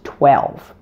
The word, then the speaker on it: twelve: Now let's apply everything you learned here in this video to help you correctly pronounce 12.